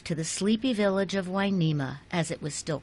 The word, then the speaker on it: Hueneme: the name back to the Spanish version winema spelled with an H and u to make the W sound the wharf brought life to the sleepy village of winema as it was still